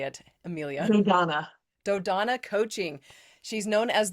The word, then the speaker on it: Dodona: Dodona.